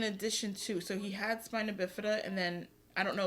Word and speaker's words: spina bifida: I was watching this little boy on TikTok, and he was born with spina bifida. What's it called? Spinal bifida. So say it again. Spina bifida.